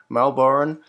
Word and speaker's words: Melbourne: the first day actually i shouldn't say melbourne i should say melbourne because that's how the locals say it um i suppose i'm